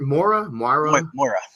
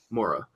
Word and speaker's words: Moira: Mora? Moira.